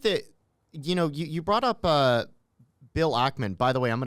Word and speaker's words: Ackman: So I think that, you brought up Bill Ackman. By the way, I'm going to correct you. It's Ackman, not Ackman.